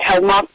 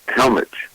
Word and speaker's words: Helmach: Is it Helmach? Let's see. It's actually pronounced Helmich. Helmich. Okay. No, it looks Helmach. Okay, I pronounced it wrong.